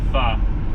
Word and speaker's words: pho: Yeah, I always thought that Kara and Nate pronounced it just totally wrong, pho. But it sounds like that's actually how you pronounce it.